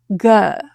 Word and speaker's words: good: But this word is a little different. It has the upsilon sound. This sounds like Think of the lips as being really neutralized or natural or lazy, if you will. Good, instead of good.